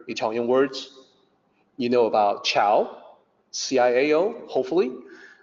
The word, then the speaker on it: ciao: People who don't really know, I see them type C-H-O-W when they want to say goodbye, ciao. So that's because they've only ever heard people say ciao without actually reading to realize that it's not C-H-O-W.